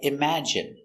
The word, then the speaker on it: imagine: And you have words like imagine, that has the short I sound, imagine.